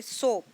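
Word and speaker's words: soap: जैसे कि सोप, स ओ प, सोप, इसमें ओ अपना लॉन्ग साउंड निकाल रहे हैं, ए जो है वो क्वाइट है। आप बच्चों को यूँ बता सकते हैं कि जब वो स्पेलिंग लिखेंगे तो उनको बताएं कि ओ ए सोप में आ रहा है, इसमें ओ अपनी लॉन्ग साउंड निकालेगा, ए क्वाइट रहेगा।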